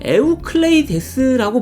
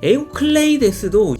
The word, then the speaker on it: 에우클레이데스: 유클리드는 사실 영어로 발음하는 이름이고 원래 발음은 에우클레이데스라고 불러야 한다고 하는데요. 원래대로라면 시저가 아니고 카이사르고 지저스가 아니고 이에소스고 그런 맥락으로 에우클레이데스도 유클리드라고 무식한 미국인들이 지멋대로 부른 거죠.